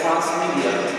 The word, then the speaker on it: transmedia: Pronunciado por supuesto en inglés, Transmedia.